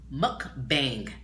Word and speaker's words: mukbang: Now you have a mukbang.